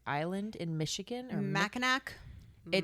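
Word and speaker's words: Mackinac: Is it pronounced Minak Island in Michigan or Macak? It's Mnack.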